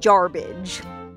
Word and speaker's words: Jarbidge: can't pronounce it so the first white man that rolled into garbage thought it sounded like garbage and well that's why we call it garbage i've had people telling